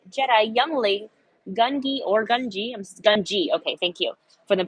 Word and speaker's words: Gungi: Gungi. Okay, thank you for the pronunciation typed out phonetically in the chat there.